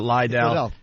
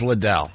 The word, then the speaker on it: Liddell: mispronouncing Chuck's last name it's not Lidell it's Liddell sorry Scott call him